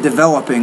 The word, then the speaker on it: developing: So it's stress. Developing. So you want to put developing. So with the stress syllable, Medard, the stress syllable has to be louder, clearer, longer, and higher pitched.